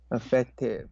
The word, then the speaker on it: effective: word uh effective effective effective you have to enunciate the word e because if that sounds